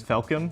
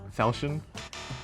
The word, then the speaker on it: Falchion: Also, by the way, do you know this keyboard is pronounced as Falcon and not Falchion?